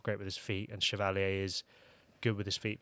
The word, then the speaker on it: Chevalier: I think is the Chevalier. correct pronunciation.